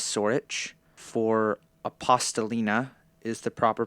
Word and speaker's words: Sorich: So for Michael Sorich, I was calling him Sorik. The pronunciation is Sorich.